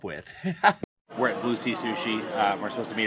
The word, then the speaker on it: sushi: place called bluy shshi Sushi not shushi I pronounce it wrong